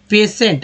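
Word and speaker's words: patient: अब बताइए कि कहाँ से लग रहा है कि आपको यहाँ पर स का यानी कि तालाब श का जो है उच्चारण हो रहा है, कहीं से आपको लग नहीं रहा होगा।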